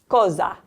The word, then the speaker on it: cosa: Cosa.